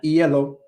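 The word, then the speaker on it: hielo: I would definitely recommend like ELO if you didn't know what yellow means you know that means you know that means ice but there's an H on the the front of that word but if you didn't know that you don't pronounce the h then you'll be like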